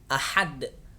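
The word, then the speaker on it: أحد: Ketika teman-teman membaca satu kalimat di dalam surah Al-Ikhlas terdapat ada huruf ha tipis atau ha kecil, maka juga harus dibaca tipis. Ahad, ha hi hu, ha hi hu.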